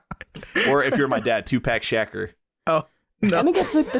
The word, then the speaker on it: Tupac Shakur: I'm telling you, just think Tupac Shakur.